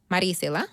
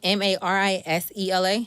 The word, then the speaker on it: Marisela: Because people, if I put the way it's spelled, Marisela. Yes. I get Marisela. Like, no. Like, no. So I pronounce it the way it's supposed to be said.